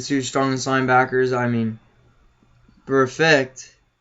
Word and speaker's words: Burfict: I mean, Burfict, right? That's how you say it? Yeah, perfect. Perfect.